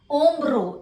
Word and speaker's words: hombro: Ombro. H is silent, so ombro.